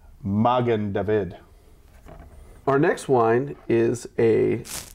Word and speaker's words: Magen David: a lnd opening and mogen David is Yiddish pronunciation of the Hebrew Magen David our next wine is